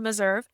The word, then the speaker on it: Meserve: My last name rhymes with reserve. Okay. It is spelled Meserve.